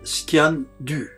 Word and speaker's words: sgian dubh: alpes-de-haute-provence est ancien d'ubs en langue gaélique on prononce scan du on le retrouve dans